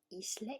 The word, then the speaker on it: ISLE: Or shortly, ISLE e-handbook. I pronounce it ISLE, but you can also pronounce it isle.